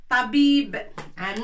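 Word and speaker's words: طبيب: Ta. Avec fatha pour prononcer ta. Ba. Avec ya pour dire bi.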